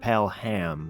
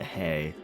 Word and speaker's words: Pelhay: It's Fred Pelhay, not Hay.